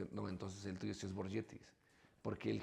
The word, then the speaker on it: Borgetti: que que estaban ahí y decía, porque ellos también me decían Burgetti y yo le pregunté, digo, "Entonces, ¿cómo se pronuncia?"